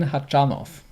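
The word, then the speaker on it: Khachanov: yeah we talked Oh his name is Karen hot John off we knew this didn't we and no we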